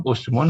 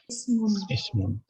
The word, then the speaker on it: ismun: Ini bacanya apa? Asmun, usmun, apa ismun? Bacanya ismun. Walaupun huruf ketiganya dhammah. Nggak jadi usmun ya.